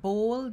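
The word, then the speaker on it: Bhol: of flip it's courtesy bowl design so let me give ball design it's spelled b h o l design so it sounds like bold design right maria bola the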